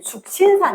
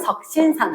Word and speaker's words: 석신산: 그 다음에 쌤 할 때는 숙신산 했거든. 숙신산. 근데 요즘은 석신산 하더라고. 발음이.